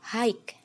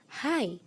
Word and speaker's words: high: Kebanyakan masih mengucapkan seperti hike. Ada paten G-nya. Tapi ternyata pengucapan yang benar adalah high. Nah, jadi bukan hike lagi tapi high.